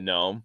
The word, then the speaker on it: gnome: but but it's but the g is silent and The Gnome so it's I don't